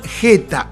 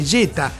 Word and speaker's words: Jetta: en Latinoamérica el Volkswagen Jetta o Jetta porque su pronunciación fonética era precisamente jeta sinónimo de mala suerte